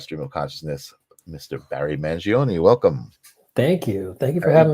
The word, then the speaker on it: Mangione: Barry Mangione. Welcome. Thank you for having me on, man. Am I pronouncing that right? Mangione? Yeah, Mangione. Yep. Mangione.